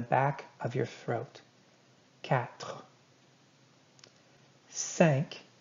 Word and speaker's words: cinq: Cinq. Kind of sounds like the word sank, like something sank, like a ship sank.